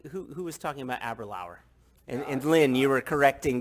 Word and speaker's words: Aberlour: It's kind of like, who was talking about Aberlour? And Lynn, you were correcting Gil on his pronunciation of Aberlour.